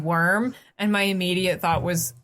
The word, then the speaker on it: wyrm: Worm. Worm? Yeah, the WYRM. I It's still have worm. always pronounced it worm, but I heard people pronounce